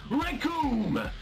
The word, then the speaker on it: Raccoon: Because the name's Raccoon. It rhymes with doom.